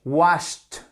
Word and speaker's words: washed: En fait, lorsque vous avez un son qui ressemble à ce, che, que, là, vous allez prononcer comme te. Worked, OK? Work, worked. Laugh, fe, che, se, que. Laughed, laughed. Wash, washed, te, OK?